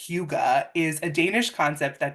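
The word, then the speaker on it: hygge: so the concept of I thought it was pronounced hii but it's pronounced Huga is a Danish concept that describes a feeling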